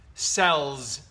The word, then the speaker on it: cells: The Second word yes cells cells cells cells cells right Z with a z sound C Z sound Okay mm And Here